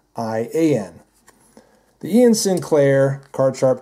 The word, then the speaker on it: Iain: it's the Ian Sinclair i a i n is the spelling if I'm not mistaken but it's pronounced Ian just like Ian the Ian Sinclair card